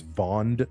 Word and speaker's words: Vond: Well, yeah, it's uh and because I'm not pronouncing it's first name is Vond, V O N D, last name is uh Elwick.